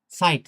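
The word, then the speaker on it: Zeit: যেমন mine, আইনস, সাইট, সাইট মানে সময়। সেট এ ই টে সাইট, সাইট মানে সময়। তো দেখেন এই ক্ষেত্রেও আই উচ্চারণ হচ্ছে।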